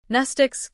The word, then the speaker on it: Mnestics: Mnestics, Class W, X, Y, and Z, same Greek root as the word mnemonic. The M is silent.